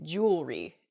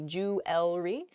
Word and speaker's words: jewelry: bit smushed together and we say jewelry instead we miss that that second e sound in there it should be jew ellery uh in a sample